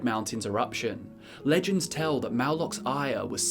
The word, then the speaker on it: Mauloch: That's spelled M-U-L-U-K, and it is very similar to the aspect of Malakath named Mauloch, acknowledged by certain orcs.